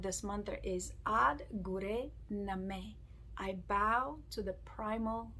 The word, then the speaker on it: Nameh: Bring your hands into the heart center, and there are some phonetically challenging parts to it, as when we say Nameh, it's a sound not me, right? So it's Nameh.